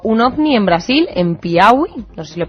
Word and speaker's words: Piauí: He leído hace poco que explotó un ovni en Brasil, en Piauí. No sé si lo he pronunciado bien. Piauí.